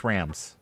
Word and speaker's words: SRAMs: srams for the 486 motherboard those are that's pronounced srams it's Rams yeah so I ordered some srams